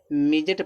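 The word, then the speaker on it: midget: इसको देखो मेजेट पढ़ा जाता है। मेजेट मेजेट नहीं मिजेट पढ़ा जाता है। मेजेट माने बौना होता है। तो मेजट में डिसाइलेंट होता है।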